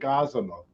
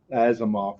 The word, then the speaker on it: Asimov: was named after isaac asimov i always got that name wrong as a moth whatever and uh after